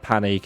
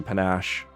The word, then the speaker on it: panache: I think I pronounced that panic earlier as well, when it's obviously panache.